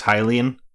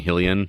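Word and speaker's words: Hylian: wild came out and we all learned it was hyaline we've been saying hellion our entire life because that's the correct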